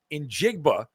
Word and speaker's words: Njigba: So Seattle's big play guy, Jackson Smith in Jigba.